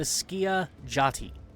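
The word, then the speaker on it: Skiajati: It's pronounced the Skia Jati.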